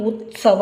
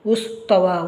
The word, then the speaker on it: ಉತ್ಸವ: ಏನಾಯ್ತು ಈಗ ಉತ್ಸ ವ ಇದನ್ನ ಬಹಳಷ್ಟು ಮಕ್ಕಳು ಹೀಗೆ ಉಚ್ಚರಿಸ್ತಾರೆ ಉಸ್ತವ ಉಸ್ತವ ಅಂತ ಬರ್ತಾರೆ ಉಸ್ತವ ಅಂತಂದ್ರೆ ಅದನ್ನ ಈ